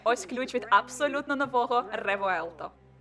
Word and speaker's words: Revuelto: від абсолютно нового ревоелто Саме так Воно має звучати хоча не зовсім Треба гарно вимовляти р люди просто знущаються з назви цього автомобіля хтось каже руельто що Як виявилось неправильно Я питала в італійців і вони кажуть ні-ні-ні реелто це наступник авентадор але